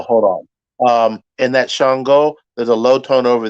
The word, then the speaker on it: Ṣàngó: place uh sister anusha it is shongo but spelled with just an s-a-n-g-o that s has a dot under it uh which makes the sh sound shongo and uh we covered